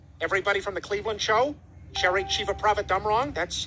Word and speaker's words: Cherry Chevapravatdumrong: star wars characters everybody from the cleveland show sharing chief of prophet dumb wrong that's how that name is pronounced the orville the ship not the cast